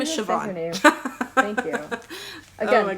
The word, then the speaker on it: Siobhan: how you say her name her name is siobhan thank you again pronunciations not my best it's not my strong